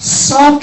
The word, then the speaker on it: sake: But sake is how it's pronounced, so that's what I was looking for.